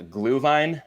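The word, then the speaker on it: Glühwein: likes it yeah absolutely I'm probably gonna botch the pronunciation but I think the the German word is a glue line uh translates essentially to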